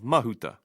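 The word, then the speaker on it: Mahuta: toen and Naya mahut some place emphasis on the second to last syllable like this this is not correct the stress should be on the first vowel he of H and Ma of mahut Hare and mahut the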